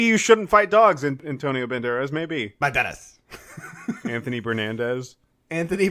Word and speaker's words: Banderas: Where, Antonio Banderas, like... Banderas. You didn't say it right. Banderas.